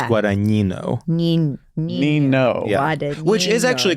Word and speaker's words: Guadagnino: Anyway, I used to say Guadagnino, but it's Guadagnino.